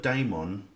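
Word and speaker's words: daemon: Embraces the spiritual now he pronounced this this word Damon refer it looks like demon it looks like the word demon take away the A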